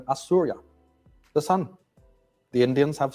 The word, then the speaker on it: Osiris: They didn't pronounce it Osiris. They called him Assurya, the son.